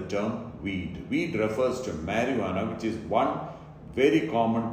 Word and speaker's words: marijuana: It may be spelt with J or H, but it's always pronounced marijuana. The J is never pronounced or emphasized, not marijuana.